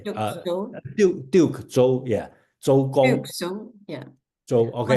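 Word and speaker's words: 周公: So this person, Duke Zhou, okay, and Chinese pronounced as Zhou Gong, is probably well, should I say the most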